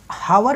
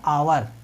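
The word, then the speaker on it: hour: अगर देखिए, हावर में भले ही हावर लिखा है लेकिन उसको पढ़ते हैं आवर, इसका प्रोनाउंसिएशन आवर करते हैं।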